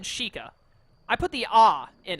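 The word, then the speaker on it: Sheikah: how to pronounce it every time I see that word I want to say Sheik ah but I know they pronounced it differently earlier they said like she can or she chika I think they just said chika I put the oo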